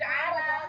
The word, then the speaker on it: Arab: Like, She's Arab. It's pronounced Arab.